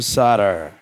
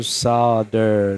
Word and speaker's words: solder: not solder I know I can't bring myself to say solder and I want you know I don't know how the right way to say it is but I do know that even if it is the right way to say it is with an L that I'd rather just